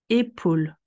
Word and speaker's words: épaule: Épaule. Le A et le U ensemble sont dans la même syllabe et vont être prononcés ensemble. O.